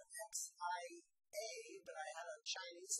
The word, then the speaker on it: Xia: with the Xia, although there's not much, and that's spelled X-I-A, but I had a Chinese lesson today that's pronounced Xia.